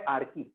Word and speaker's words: Archae: आर्की असा शब्द आहे. आर्की, त्याचं स्पेलिंग आर्ची सारखं आहे पण त्याचा उच्चार आहे आर्की.